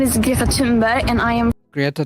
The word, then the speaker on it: Thunberg: and I am Greta Tunberg. It almost sounds like she's saying Tumbberry. Donald Duck. What's the difference between a banjo and an accordion? The banjo burns longer. He is gross. It's basically pronounced tombberry.